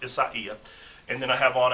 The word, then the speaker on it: Isaia: yellow and silver striped isaiah thai and that's the proper pronunciation is spelled like isaiah without an h but it's pronounced isaiah and then i have